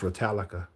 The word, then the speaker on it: Ratalaika: I think it's pronounced Retallica, like Metallica says with instead of a M is a R.